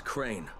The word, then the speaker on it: Crane: store no my name's crane crane crane rhymes with train and brain and S and Grain